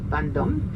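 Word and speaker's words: Vendôme: that's called the vom vom is written V as in Victor e n d o m e vom you pronounce vandom vom and vom is a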